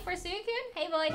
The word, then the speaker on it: Suicune: Suicune, like Sue from suitcase, Suicune, suitcase.